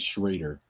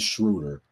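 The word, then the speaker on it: Schröder: One of the things that jumped out to me about the Atlanta Hawks, I see why Dennis Schrader, or Schroeder, I'm sorry, I mispronounced his name, Dennis Schroeder.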